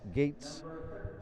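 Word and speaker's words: Goetz: goalie today for talawanda zak getz gates they pronounce it gates james anzano gates spelled g-o-e-t-z this is luke west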